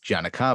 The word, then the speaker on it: Giagnocavo: beginning, because I said Giagnocavo. Brother, so I have, well, so no, you didn't, because that's the way it's said in Campobasso, Italy. Giagnocavo is acknowledging the Ellis